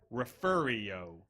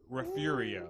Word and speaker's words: Refugio: so what is it it's actually refero refer refero you know what you get a lot of kids in trouble in school they had there's no R except for at the beginning that's a g I understand that but it's refero okay all right come on